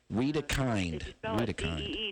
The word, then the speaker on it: Wedekind: the wrong name and it's just d d weed Kind De you ain't GNA find me I am